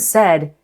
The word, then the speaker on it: said: So the point is, in the word said, AI is not being used to spell eh.